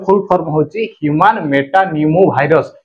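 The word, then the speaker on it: pneumovirus: HMPV रो full form होची human Meta Numa भाइरस। ये पी अच्छे किंतु उच्चारण न्यूमो भाइरस पी टा साइलेंट हो जाऊँगा ह्यूमन मेटा न्यूमो भाइरस।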